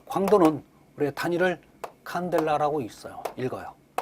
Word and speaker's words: 칸델라: 자, 광도는 우리가 단위를 칸델라라고 읽어요.